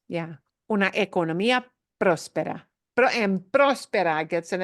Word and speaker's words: próspera: Una economía próspera. And próspera gets an accent mark too, right? Otherwise, it would be prospera, but nobody pronounces that word as prospera. It's próspera. Like próspero año nuevo, prosperous new year, próspero.